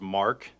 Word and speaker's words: Marke: Eko Oscar foxtrot foxtrot last name is Mark m a r k e the E is silent and by whom are